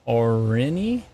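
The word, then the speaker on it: Orene: uh thank you oh o-r-e-n-e or any already like Irene with an O instead of an ice how did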